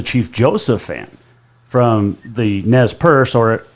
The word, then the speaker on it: Nez Perce: I was a Chief Joseph fan from the Nez Perce, or Nez Perce is actually the correct pronunciation.